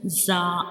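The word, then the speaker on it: ز: And the second one is za. Za has only 1 dot, and za is a whistle letter. When we pronounce za, the whistle like sounds comes.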